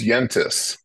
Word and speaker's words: Yentes: I pronounce that wrong is it yens or yentes it's yentis letter well you know